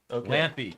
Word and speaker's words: Lampe: from Talent from CA so it is lamp E lampy Joe Lampe confirmed that's how you pronounce it I have a so